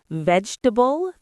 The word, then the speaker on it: vegetable: Vegetable, three syllables.